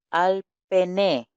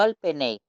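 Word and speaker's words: על־פני: Tenemos al pené, no al penei, eso es una... Recuerden que nosotros estamos fonetizando, utilizamos la pronunciación sefardí, no las que nací, esto es para algunos por las dudas.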